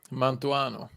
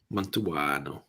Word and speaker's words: Mantuano: So, the first one we're trying was how can you pronounce that one, Emil? It's the Mantuano. Mantuano.